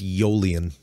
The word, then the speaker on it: Aeolian: It's Aeolian. Wouldn't that start with a Y? No. Aeolian? The only word I know that is spelled like that and actually has it's got a direct parallel is Aeolian, which is from Aeolian harp. It's spelled exactly like that. It's Aeolian harp.